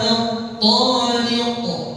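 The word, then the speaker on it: الطارق: Tariq ada qaf lagi di akhir. Nanti qalqalah kubra. Jadi bacanya gimana? Wa ma adraka mat-tariq. Coba 1 2 3. Wa ma adraka mat-tariq. Baik, ya, jadi jangan dipanjangin kalimat tariq ini ya.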